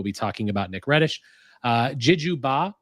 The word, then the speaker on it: Djidjou: Djidjou Ba, I'm probably saying that name wrong. Correct me if I'm wrong, Nick, but I think it's Djidjou Ba. D2 Ba. Djidjou. Wow, I was He told me.